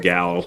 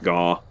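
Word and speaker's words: Gau: And that's Gao. Or Gaw. I pronounce it Gao. I used to call it Gaw.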